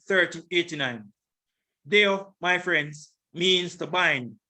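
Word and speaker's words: δέω: Deo. This is the pronunciation.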